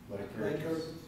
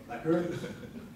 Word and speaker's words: Lycurgus: Yeah, how do you pronounce it? Lycurgus. Okay, Lycurgus.